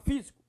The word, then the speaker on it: físico: Próxima palavra é a palavra físico. Físico. Qual é a sílaba mais forte? Professor, é o fi.